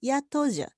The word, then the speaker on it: yatoja: In 10, yatoja is high falling, but this is usually pronounced with high level tone, as in 12, yatoja.